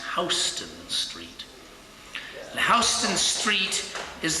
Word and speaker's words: Houston: They're the ones who ask for Houston Street. But in New York, it's pronounced Houston Street.